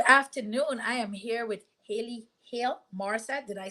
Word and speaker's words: Hale Morrissette: I am here with Hale Morrissette.